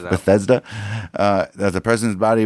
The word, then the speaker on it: Bethesda: that somewhere between Parkland and bethsida but whatever you know I've only told you how it is pronounced seven times Bethesda uh that the president's